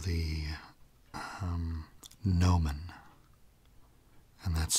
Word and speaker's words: gnomon: That's called the gnomon. And that's spelled G-N-O-M-O-N.